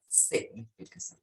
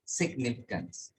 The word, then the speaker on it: significance: So significance, significance, mysterious, mysterious, sorry, mysterious, significant. So stress on the second syllable.